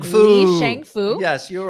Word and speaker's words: Li Shangfu: was asking let me see if I can pronounce his Li name right. Shangfu. Li Shangfu, Yes, you're the right.